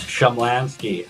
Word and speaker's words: Shumlanski: How's the correct way to say your last name? It's Shumlanski. I thought you know that, but Shumlanski.